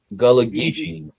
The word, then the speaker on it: Gullah Geechee: And then we got part of the Savage Syndicate, none other than Lonzo Wilkinson himself, with the Gula. How do you say that? Gula Gullah-Geechee.